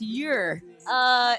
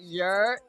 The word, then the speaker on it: Yurr: Okay, so it's your. It's like your.